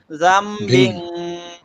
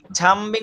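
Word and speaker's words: ذنب: তাহলে জামবিং। আর স্যার এখানে ঝামবিং বলা যাবে না, মানে সিটি করা যাবে না।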